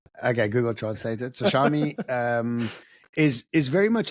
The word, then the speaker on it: Xiaomi: So the mundane work around factory work being taken away, and Xiaomi, it's pronounced Xiaomi.